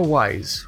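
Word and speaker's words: Wwise: can either be the Unreal Engine itself or wise which is spelled WWI SE yo' then specifies that for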